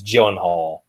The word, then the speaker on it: Gyllenhaal: I just want to say for future reference, the name is Gyllenhaal. Gyllenhaal, okay.